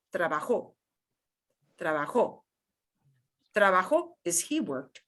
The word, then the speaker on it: trabajó: vivo, entiendo, estudio, and o with an accent mark, which means you got to punch that syllable more than everything else. So not the word trabajo, but trabajó.